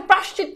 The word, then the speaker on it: প্রায়শ্চিত্ত: আবার বলছি, উচ্চারণটা ভালো করে খেয়াল করো, প্রায়শ তারপর কি চিত, তারপর হচ্ছে তকার্ত, প্রায়শ চিত্ত।